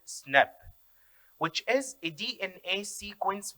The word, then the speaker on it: SNP: call single nucleotide polymorphism which is abbreviated as nb and pronounced snap which is a dna